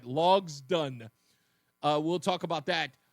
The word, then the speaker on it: Logsdon: Uh and his name is Slade Logden, if I'm pronouncing it right. Logsdon.